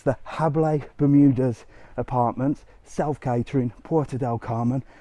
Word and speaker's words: Jable: people call it the jabla Bermudas it's spelled with a J but the J is a h sort of so it's habay Bermudas uh so don't get